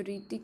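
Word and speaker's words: Hrithik: जो ऋतिक में H silent होता है और स्टार्ट किससे होती है?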